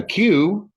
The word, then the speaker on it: queue: we're making right now A Q English spelling QE the UE is silent um I always forget